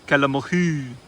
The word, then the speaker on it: kelamohi: Protobothrops kelamohi. Kelamohi. That's how the like locals pronounce it. I don't know why they spelt it like that in the paper.